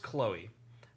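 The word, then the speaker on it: @chl03k: to pronounce it it's it's pronounced chloe but it is in the format of a twitter handle so it's at chl03k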